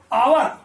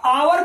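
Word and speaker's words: hour: आवा इसका उच्चारण केवल ऐसे करते हैं ब्रिटिश इंग्लिश में, कुछ लोग आवर भी बोल सकते हैं ऐसा करके, परंतु यहां विशेष तौर पर एच जो है वो क्या है, साइलेंट है। हालांकि ब्रिटिश इंग्लिश में आर भी साइलेंट होता है।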